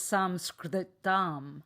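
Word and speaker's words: संस्कृतम्: It's Samskritam. So Samskritam. So it's easier in English to say Sanskrit.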